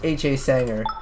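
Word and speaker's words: Hasanger: mispronounce my username yeah it's pronounced ha Sanger cuz it's the oh my bad it's the first two letters or my my first initials of my first middle name and my last name so that's why it's yeah pronounced that way cannot live he's lying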